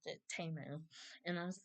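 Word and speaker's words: Temu: People still say T-Mu, but it's TAU.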